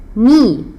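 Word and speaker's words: nid: que c'est c'est un ni c'est un ni c'est un ni le D ne se prononce pas avec la lettre O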